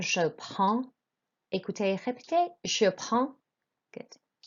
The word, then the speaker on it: prends: You pronounce the D and S. It's the vowel sound, je prends.